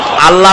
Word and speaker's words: আল্লাহ: নাম আল্লাহ বলেন তো আল্লাহ নয় কিন্তু আল্লাহ হচ্ছে অশুদ্ধ শুদ্ধ হচ্ছে আল্লাহ বলার সময় মুখটা গোল হয়ে যাবে বলেন তো সবাই উচ্চারণ করেন আল্লাহ আবার বলেন আল্লাহ আবার বলেন